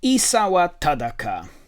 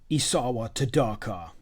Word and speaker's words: Isawa Tadaka: iteration isawa and not some of the americans say in the in the uh audiobook isawa tadaka no isawa tataka for five a five